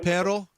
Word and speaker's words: pero: Uh pero.